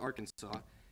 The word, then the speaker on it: Arkansas: is the place where people are like don't you mean Arkansas or which state it's Arkansas and to answer those questions Arkansas is the state and it was established before Kansas which means Kansas pronounces the state's name wrong all right anyway